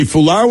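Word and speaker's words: Fualaau: they say Fulau is how his last name is pronounced.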